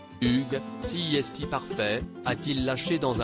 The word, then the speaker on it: Hugues: son prénom correctement après plusieurs tentatives à fructueuses ce dernier lui a finalement recommandé de le prononcer à la française Hugues sieste parfait a-t-il lâché